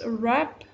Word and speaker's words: wrap: So the first one is wrap, wrap. W is silent.